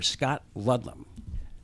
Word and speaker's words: Scott Ludlam: we are now being joined by Australian senator Scott Ludlam did I pronounce that right you pronounced it perfectly okay